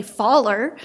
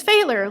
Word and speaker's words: Thaler: you pronounced it correctly many people say Faller and then I always have to say it's failure like trailer but with an F sound so thank you good